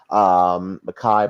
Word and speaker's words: Mekhi: Makai, by the way, is spelled Mekhi, Mingo, Mingo.